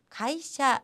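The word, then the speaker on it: 会社: 배웠던 한짝을 복습을 해 볼게요 회사라는 것은 요 가이샤 라고 읽었죠 자의 특히 2 회 그리고 사이 각각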